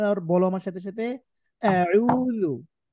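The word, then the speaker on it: أعوذ: বলো আমার সাথে সাথে আউজু আউজু গলার মধ্যে নাও জোরে বল সবাইু আইন গলার মধ্যে থেকে উচ্চারণ করতে হয় কেমন এইতো মাশাল্লাহ ভালো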